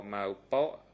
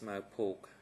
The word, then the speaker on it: Mao Pok: It's absolutely my mispronunciation. I apologize, Mr. Witness. Maybe I can ask my colleague from the Q-Santan team, national colleague, to read that name, just to make sure that we pronounce it correctly. Kong Som On, thank you. And the name is Mao Pok.